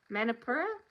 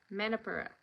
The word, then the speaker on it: Manipura: Manipura? Manipura. You just say it really fast. Manipur. That's how you say it.